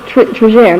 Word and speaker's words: Trigère: But I think they pronounced it with a soft G in France. Trigère.